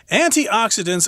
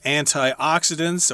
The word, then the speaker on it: antioxidants: passion fruit and generally antioxidants are vital to the health of ourselves and also increase blood flow so yes that's what is said about antioxidants or antioxidants you can pronounce it both ways there they are vital